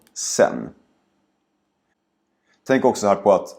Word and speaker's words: sedan: Så tänk på att ordet sedan nästan alltid uttalas som sen.